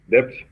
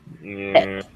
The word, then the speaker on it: debt: Debt. Debt. It's It's money. pronunciation is debt. Debt. Debt without Yes, B. Right? without B. You don't pronounce B. Just debt.